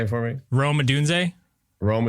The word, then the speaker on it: Odunze: Brando's brand, as well as technology failures, is mispronouncing last names. I'm sorry. Can you say it for me? Rome Odunze? Rome Odunze.